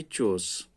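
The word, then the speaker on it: chores: ये चोर्स के भी लोग इसको कोर्स भी पढ़ते हैं, लेकिन असल प्रोनाउंसिएशन इसकी है चोर्स।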